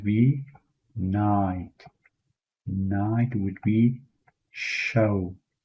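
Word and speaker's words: شەو: Night would be show. It's like you know the British pronunciation of the word show which would be show.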